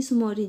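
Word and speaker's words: Tso Moriri: एक अपने पास है टी सुमोरी लेक। इसमें टी साइलेंट रहता है।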